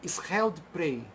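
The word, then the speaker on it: Scheldeprijs: venceu 2 vezes o Scheldprey. Scheldprey é aquela semiclássica de Antuérpia que acontece em abril, que se escreve Scheldpriges, né? Scheldpriges é Scheldprey no idioma holandês, flamengo, né?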